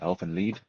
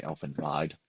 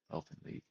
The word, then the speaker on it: Elfin Lied: Yeah, elfin lead. I heard some guy say elfin lied, but that's not how you say it. Elfin lead.